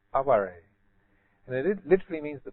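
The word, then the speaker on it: 哀れ: they have a word, it's actually transliterated the same as aware, but it's pronounced aware.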